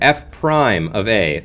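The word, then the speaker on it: f′(a): some notation okay we use this symbol here F Prime of a okay is how you say it f Prime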